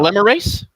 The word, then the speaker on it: polymerase: How do you pronounce it, Leo? I don't quite know. Polymerase?